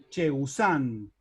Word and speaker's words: chegusán: Ya el lunfardismo sándwich pasa a ser chegusán. Y en san tengo un acento agudo al final de la palabra.